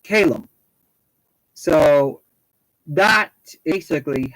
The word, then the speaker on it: Callum: but it is pronounced calum so that basically how i would pronounce my name my name is pronounced calum but it is spelt